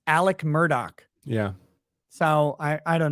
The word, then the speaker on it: Murdaugh: name is spelled Alex murdaugh and it's apparently pronounced Alec Murdock yeah so I I don't know that's it's